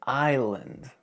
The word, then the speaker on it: island: The word island. Weird, right? Forget that S.